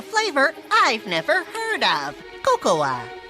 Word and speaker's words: Cocoa: never heard of cocoa kakua kakowa it's pronounced Coco oh I love Coco new from Kellogg's Rice Krispies cocoa rice krispies now with a delicious hint of real cocoa Coco the a is silent it did yeah it